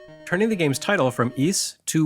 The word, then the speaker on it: Ys: Despite being spelled YS, East is pronounced more like E than Wise because it takes its name from a legendary sunken city off the coast of France.